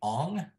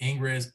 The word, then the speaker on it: Ingres: of this era uh Jean Auguste domini Ong some people call them Ingress it's a very interesting way to pronounce he was uh another